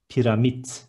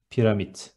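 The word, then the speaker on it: piramit: Next one, pyramid is pyramid. Instead of D, there is T in the end, and it is pyramid.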